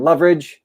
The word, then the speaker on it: Loveridge: we got adam um loveridge is how you say your last name for leverage that's awesome